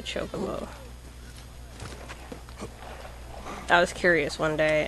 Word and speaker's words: Chocobo: one still my chocobo which is actually the correct way to say it some people call it shock a bow but it's actually a chocobo that was curious one